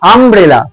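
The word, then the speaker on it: umbrella: এখানে বসাইড আমব্রেলা তাহলে এখানেও কিন্তু ইউ আছে কিন্তু উচ্চারণ হচ্ছে আম্রেলা উচ্চারণ হচ্ছে আম্রেলা থাকলে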